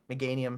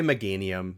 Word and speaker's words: Meganium: It's Chikorita, Bayleaf, Meganium. Oh, that one. Yeah. Just doesn't look as cool. I would say Meganium, because it's like mega, like. Oh, it could be. I don't know. Meganium.